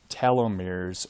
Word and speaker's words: telomere: Okay, the ends, what we refer to as telomeres or telomeres, depending on how you pronounce that. I like to say telomere, but I've definitely heard it's pronounced telomere.